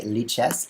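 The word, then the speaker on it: Lichess: chat first of all there's no standard pronunciation you may say liches if you wish that's the mark of a good product no one can pronounce it because everyone makes up their own pronunciation and their own idea about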